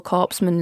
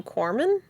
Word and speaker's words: corpsman: medical record stuff yeah you guys pronounce the the p in Corman corpsman I don't I don't do I don't like I just said it how it was right I don't know if that's actually how oh okay I just